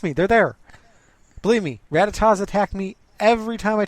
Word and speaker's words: Rattata: Believe me, Rattatas attack me every time I take a 3-foot movement from anywhere.